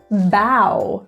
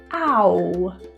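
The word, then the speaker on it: bough: Bow, not a common word, but OUGH. Ow. Entirely different pronunciation.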